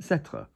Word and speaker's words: s'être: However, when you've got an S apostrophe before your être, it will be pronounced s'être. So, for example, I'm happy,